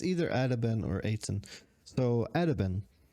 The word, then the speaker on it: Attaben: It's just taken from Swedish åtta ben, meaning 8 legs. So you would just spell it with this kind of a, like with a dot over. And in Swedish, we call it å. So åtta ben, making it 8 legs.